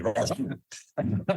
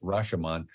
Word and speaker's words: Rashomon: the Japanese film Rashomon, or actually the correct pronunciation would be Rashomon. But the emphasis is on the different syllable, but Americans call it Rashomon, which is a single incident that is told from 3 different perspectives.